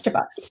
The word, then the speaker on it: Chbosky: Kahabosky. I don't know how you say it. I think it's Chbosky. You got it right.